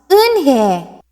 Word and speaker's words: Unhei: It's pronounced Unhei." "Oh, it's Unhei," the boy said. "Like you, hey, what about hey you?"